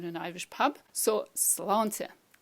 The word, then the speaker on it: Sláinte: you've ever been to an Irish pub, it's Sláinte. Sláinte, and it means, of course, health. Now let's try that so you know how to say it the next time you're in an Irish pub. So Sláinte, Sláinte, health.